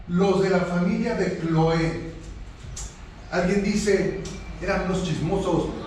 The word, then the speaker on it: Cloé: Pues algunos de la casa de Cloé, nótese el acento en la E, no es Cloé.